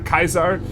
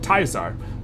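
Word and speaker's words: Caesar: You may say it's pronounced Project Kaiser, but it's Project Tizar, similar to Taser.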